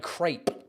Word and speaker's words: crepe: can I get a crep it's ambiguous so that's why they call it a crepe as if it was spelled c r a y p uh Muna coconut